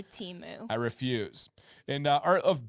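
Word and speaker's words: Temu: one knockoff one from Teemu and I know it's it's pronounced TAMU or something like that but I refuse forever teu I refuse and art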